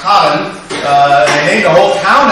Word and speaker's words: Karen: The premise of the book is Meryl Streep's character, Colin, we would say Karen, but it's Dutch, so it's pronounced Colin.